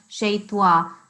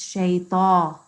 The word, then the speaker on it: شيطان: Good, because before, the first time you said shaytwa, and it is not shaytwa, it's shayta, which you improve the next time, which is fine.